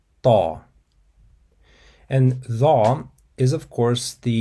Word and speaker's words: ط: So to pronounce the character ta, you have to involve the throat to give it a deeper and more powerful quality. Once again, it's ta, ta.